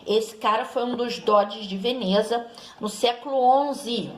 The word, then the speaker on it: Doge: E esses grandes comerciantes, eles formaram assembleias, e nessas assembleias eles elegiam o seu representante, que tinha o título de Doge, né? Com a pronúncia italiana, que significa comandante.